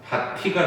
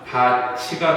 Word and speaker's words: 밭이: 자, 그러면은 이렇게 바뀌었다라고 했을 때 그러면 원래 발음이 뭐가 돼? 바티가 되잖아. 근데 이거 허용해? 안 되지. 그래서 강제로 국외음화 시켜가지고 어떻게 되는 거야? 바치가 되는 거지.